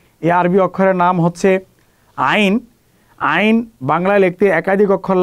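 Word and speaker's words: ع: আইন খেয়াল রাখতে হবে, আইন এটা গলা থেকে উচ্চারণ হবে, কখনো যেন শক্ত না হয়ে যায়, আইন এরকম যেন না আসে, আইন আইন আইন।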